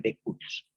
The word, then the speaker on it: de cujus: Cujus se escribe, se lee el de cujus.